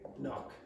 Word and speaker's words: knock: Okay, knock. And again, if you're German, don't pronounce that K.